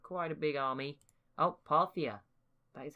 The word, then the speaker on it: Parthia: Oh, Parthia.